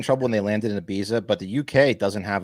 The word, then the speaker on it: Ibiza: to say it's an Ibiza yeah so you pronounce the Z like a th that's interesting yeah did